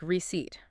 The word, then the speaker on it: receipt: The stress is on the second syllable, and it sounds like receipt.